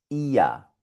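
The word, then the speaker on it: ihr: Bien, la I con la R suena IA, como aquí, en otro pronombre personal que suena exactamente igual. IA.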